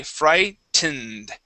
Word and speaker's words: frightened: all right so uh we do pronounce that t that's not going to be a d but this e here in the middle is silent so we say frightened frightened frightened frightened away frightened